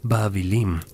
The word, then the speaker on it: Babilim: Su nombre era Babilonia, que en acadio antiguo se pronunciaba Babilim, y significa la puerta de Dios o la puerta de los dioses.